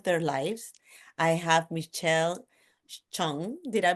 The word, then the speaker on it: Chung: I have Michelle Chong. Did I pronounce it right?